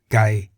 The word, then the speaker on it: ไก่: For example, Gai in the low tone meaning chicken, Kwai in